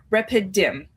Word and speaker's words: Rephidim: this place and it starts with an R, Rephidim.